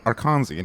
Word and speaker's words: Arkansan: I don't think this will help you any at all, but he's an Arkansan. Arkansan? How do you say that? Arkansas. He's from Arkansas. Arkansian. Sorry. Arkansian, yes.